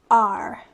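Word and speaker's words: 二: than the top on both sides so it's pronounced r and sun is just as simple it's three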